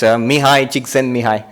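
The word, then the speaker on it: Mihaly Csikszentmihalyi: One of the other psychologists working in this field, his name is unpronounceable. It's Mihai Csikszentmihalyi.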